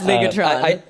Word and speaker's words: Ligetron: we call it um legatron which I tell more later but I will would you also pronounce that legatron I'm going to say that right okay that's legatron okay I just hope